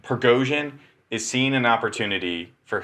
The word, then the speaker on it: Prigozhin: How do you pronounce his name again? Prigozhin. Prigozhin is seeing an opportunity for him to take Putin's spot.